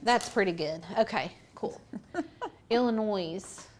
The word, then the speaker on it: Illinois: Illinois. It's not Illinois. Illinois. It's in Illinois. I know. Ann was saying you don't pronounce the S.